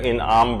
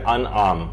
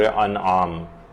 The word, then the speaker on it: انعام: وہ یہ ہے کہ لوگ اسے سورہ انعام پڑھتے ہیں، جبکہ یہ ہے سورہ انعام، یہ زیر کے ساتھ نہیں ہے بلکہ یہ زبر کے ساتھ ہے، تو اس کا صحیح تلفظ ہوگا سورہ انعام۔ اس کی جو کل